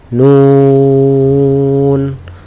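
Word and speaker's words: ن: আবার বলি, জিহ্বার আগা সামনের উপরের 2 দাঁতের মাড়ির সাথে লাগিয়ে, হ্যাঁ, গোড়া না, মাড়ির সাথে লাগিয়ে উচ্চারণ করতে হবে নুন।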